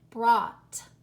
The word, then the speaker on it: brought: you hear listen ah you know what you're hearing there you're hearing the short o sound listen ah do you hear ah brought but so the oh you and these words guys just makes a different sound than in most words and it's just an